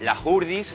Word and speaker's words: Hurdes: Que se dice Las Hurdis, con J Hurdi. y con I, ¿vale?